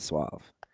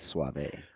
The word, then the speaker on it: suave: I'm glad he didn't say like the lotion cuz it's not suave. It's suave.